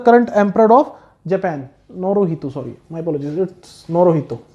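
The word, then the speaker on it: Naruhito: नाम याद रखेंगे, स्पेलिंग देख लेना, थोड़ा गड़बड़ हो सकते हैं। नोरितो इज the current emperor of Japan, नोरोहितो, sorry my apologies, it's नोरोहितो, ठीक है।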